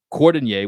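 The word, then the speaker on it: Cordinier: Cordonier, which rhymes with Fournier, Yeah.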